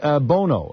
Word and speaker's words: Bono: Is it Bono or Bono? It is Bono. The same pronounced the same way as Cher's ex-husband.